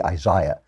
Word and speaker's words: Isaiah: And I want to talk about the book of Isaiah, or as the British say, Isaiah, because the British are just so annoying.